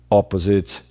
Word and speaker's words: opposite: Temos três sílabas porque o eta tá mudo, acaba no som do. E aí digo, né? Opposite, opposite, som do op variado de acordo com sotaque, aquele s ali no meio, será que ele vibra?